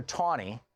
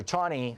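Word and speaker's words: Taney: in that case Roger tawny it's spelled like it's tan ETA and any why but it was pronounced tawny Roger tawny was the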